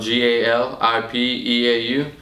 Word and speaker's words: Galipeau: Last name spelled GALIPEAU. It is French Canadian. It's pronounced Galipeau.